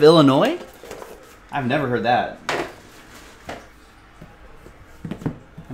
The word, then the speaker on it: Illinois: Some people pronounce the S on the end of Illinois.